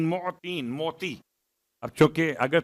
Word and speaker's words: معطین: یا خیر المعطین، معطین، میم عین توئیں یہ نون، معطین، موتی۔ اب چونکہ اگر